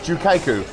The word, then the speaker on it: Gyu-Kaku: so i've learned finally this is pronounced jukaiku it is uh spelled gyu jukaiku very delicious highly recommend